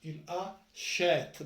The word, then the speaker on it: achète: Il, il a, qui va en prononcer là, il achète. Donc on prononce le E accent.